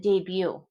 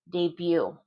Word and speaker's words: debut: Debut. Debut. Debut. So the B is pronounced, the T isn't. We took this from French.